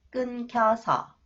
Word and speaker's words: 끊겨서: 어떻게 나왔어요 next one The final consonant new h new h affect the next sound K and the sound change it to 키 끊겨서 끊겨서 연락이 끊겨서 못